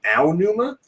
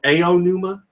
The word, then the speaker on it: Aonuma: Then there's also Aonuma, where you just say, I don't know how to say these two letters together, so I'll just pronounce them both, Aonuma.